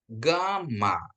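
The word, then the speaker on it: γάμμα: ya alfa Fa vita gama ya gama ya gh dia ya lebih ke gh ya ke gh ya grama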